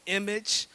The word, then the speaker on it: EMAGE: So we're integrating, or we're developing an initiative called Image 100. And Image stands for, well, it's spelled EMAGE.